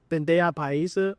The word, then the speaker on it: bandeja paisa: Have a spirit of learning, because if you learn about the bandeja paisa, am I saying it right?